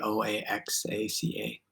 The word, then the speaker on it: Oaxaca: Going to clarify pronunciation. Oaxaca, the city Oaxaca.